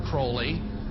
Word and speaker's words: Aleister Crowley: he likes to bring have his name pronounced crowley to rhyme with holy and uh the satanists